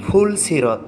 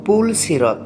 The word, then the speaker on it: পুলসিরাত: ভুল উচ্চারণ ফুল সিরত। সঠিক উচ্চারণ হবে পুলসিরত।